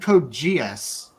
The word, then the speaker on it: Code Geass: Kogias? Did you call it Kogias? No, I said Code Geass.